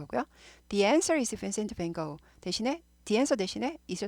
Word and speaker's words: Van Gogh: 근데 이제 영어에서는 이게 go 발음이 납니다. 그래서 Van Gogh, Van Gogh, Van Gogh, Vincent Van Gogh 이렇게 되죠.